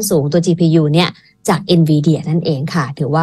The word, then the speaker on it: Nvidia: ฟัง ด้วย ค่ะ ครับ ผม ออก เสียง ถูก นะ Nvidia เนาะ ใช่ แล้ว ค่ะ ถูก ต้อง เลย ครับ Nvidia ให้ บริการ